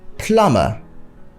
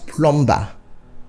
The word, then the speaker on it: plumber: not labelled not labelled plumber not plumb be' but simply plumber the B is silent and we have a